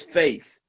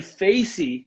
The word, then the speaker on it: face: Face has no vowel at the end. It's face. When we say facey, you're adding one vowel that's called epenthetic vowel, which is an extra vowel in there. So that is not just about an accent. It's about the what is that? It's just like you're adding a syllable to it, and when you do